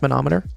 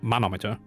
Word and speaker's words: manometer: How do you pronounce monometer? Well, you say monometer with like a contraction. So, I would say wait manome manometer. Manometer. I would say or manometer. Manometer. Okay. Yeah, you say manometer manometer.